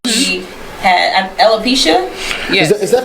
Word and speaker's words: alopecia: her yes at that time right she had alopecia is that how you say it yes that's